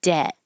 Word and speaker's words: debt: And debt, the vowel is E like head. So instead of where you open a and the lips are back, debt, the jaw stays more closed.